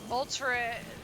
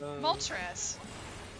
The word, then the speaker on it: Moltres: Molture. I'm saying it wrong again. I keep forgetting one in my head. Articunos. Articuno. Moltra. No. Zapdos. What you're saying is a bad. Oh, yeah. Like Articuno. Zapdos. Moltres.